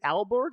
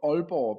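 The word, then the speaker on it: Aalborg: is it is it albergue is that how I pronounce that yeah well it's Danish it's called all poor but albergue okay that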